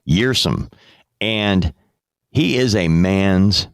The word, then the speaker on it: Kjersem: How are we going to pronounce his last name, Joe? Kjersem. Say it again. Kjersem. Okay. I think Dustin that's correct. Kjersem.